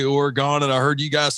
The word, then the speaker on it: Oregon: eye I I no because I've always said Oregon and then I've heard Dave say orgon and I heard you guys say it too